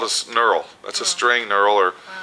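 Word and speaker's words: knurl: I just call it a neural k n u r l sir the K is silent fore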